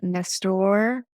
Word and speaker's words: Nestor: Yeah, Nestor. Did I pronounce your name correctly?